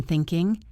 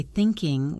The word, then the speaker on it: thinking: Did you notice how I didn't say I have been thinking? I said I've been. And I didn't say thinking with a strong G sound at the end. It was softer, almost like thinkin'.